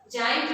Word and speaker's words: giant: Here giant is pronounced with J sound.